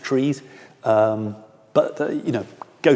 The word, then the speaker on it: trie: There are trees spelled t re e and there are also trees spelled t r i e which some people pronounce tries.